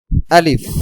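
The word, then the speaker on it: ألف: আলিফ আলিফ আলিফ আলিফ লাস্টে কি হবে একটু বাতাসের মতন বের হবে আলিফ আলিফ আলিফ আলিফ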